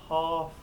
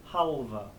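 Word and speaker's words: halve: Say the E on the end, of course. But we're also going to pronounce that L. Chaucer's written an L, so we're going to say it not half, but halva, halva, halva.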